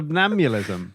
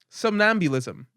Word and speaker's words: somnambulism: No, slaughter, I can pronounce. L: Subnamilism. J: Sub... Subambulance. L: Subabelism? J: Suburbia. And slaughter. C: Somnambulism and slaughter. L: Subamnee melissa. J: There's a syllable I'm missing. C: Somnambulism.